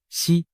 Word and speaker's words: 石: 胡锦涛，实在某些方言里读作西，实难逃